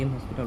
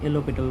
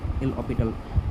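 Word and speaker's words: L'Hôpital: এটাকে এল হসপিটাল rule না। এল অপসটাল বলে। এল অসপিটাল রুল। উচ্চারণটা এভাবেই উচ্চারণ ম্যাটার করে না।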